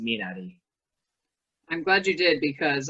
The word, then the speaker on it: Minari: there uh who have been calling the film menari it's actually pronoun as a korean i can tell you it's actually pronounced minari i'm glad you did because i haven't seen